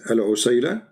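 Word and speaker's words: عسيلة: So in the top, there are, like there's many pronunciation for the word, but the word in the hadith is al-usayla, or usayla.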